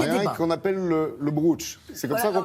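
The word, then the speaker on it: brocciu: Alors il y a des qu'on appelle le bruch. C'est comme ça qu'on prononce. Alors, on peut dire le bruch ou le bruccio, mais c'est compliqué parce qu'il y a un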